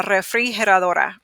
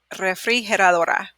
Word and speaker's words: refrigeradora: So let's slow it down. Re. It's okay if you can't roll your R's. You just say re. Re. Fri. He. Well, this one you'll probably do together. He. Her. Like her, but her. Adora. So, la refrigeradora.